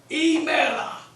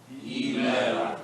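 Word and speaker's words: ἡμέρα: Emera. Emera, You have to roll that roll.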